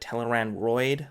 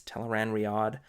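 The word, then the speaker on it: Tel'aran'rhiod: um tell Iran Riyadh I think I called it teller Android like I am my mind put the O before the I like steroid teller Android but it's teller and Riyadh Rudy in God I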